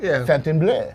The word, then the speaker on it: Fontainebleau: Because really, it's not Fontainebleau. supposed to be. The French is like Fontainebleau. Yeah, we talked about that. It's like bleu. It's not really blue. Or closer to blow. Fontainebleau.